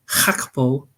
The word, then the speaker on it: Gakpo: I think like you say, Gakpo, and apparently it's pronounced Gakpo.